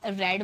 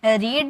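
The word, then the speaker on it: read: First form में हम इसे रीड बोलते हैं।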